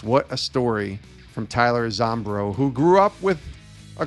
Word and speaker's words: Zombro: who I know played pro baseball, Melvin Wimpy Zombro. Did I pronounce that right?